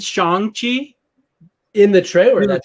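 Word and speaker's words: Shang-Chi: Somebody said Shang Chi in the trailer. In the trailer, his name, and that's how you're supposed to pronounce it. So now it's Shang Chi.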